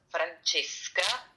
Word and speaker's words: Francesca: So, it's Francesca. Okay, that's it. And C H E is like the wine.